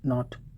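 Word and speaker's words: knot: Okay, here is के is silent letter, okay, in नो, एंड के silent in नॉट। Connaught नहीं पढ़ा जाएगा, कुनो नहीं पढ़ा जाएगा, कनाइफ नहीं पढ़ा जाएगा, कैनी नहीं पढ़ा जाएगा। You will tell knee, knife, नॉट, नो।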